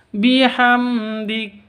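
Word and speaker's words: بِحَمْدِ: ibkar wasabbih bihamdi di sini ada mim mati bertemu dengan Dal cara bacanya jelas karena izhar syafawi jelas tidak boleh didengungkan bihamdik tidak boleh yang betul itu bihamdik bihamdiabbika seperti itu ya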